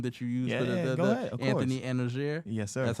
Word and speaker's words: Anozier: name the name that you use for Anthony anoer sir that's how I pronounce it I ain't butcher you got that